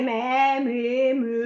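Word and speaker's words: mé: Così potrebbe essere me. No, allora me è l'accento acuto.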